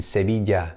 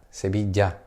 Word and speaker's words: Sevilla: my town in the south of the Spain Sevilla sahaja Sevilla si ma ma ma for Madrid Madrid you